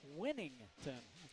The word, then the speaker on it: Whittington: Back onto the floor is Winnington. Interesting, his name is spelled as though you would pronounce it Whittington, but Coach said, nope, it's Winnington.